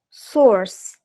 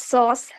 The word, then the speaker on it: source: it's eight s-a-u-c-e s-o-u-r-c-e source we call it sauce sauce but it is sauce okay not R is also silent your source source is a very very wrong pronunciation okay it's sauce that is meat m-a-i-z m-a-z